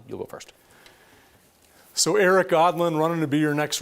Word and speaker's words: Aadland: go first so Eric godlin running to be your next representative my name's an odd name with two A's just remember that that's how you pronounce it I'm a combat veteran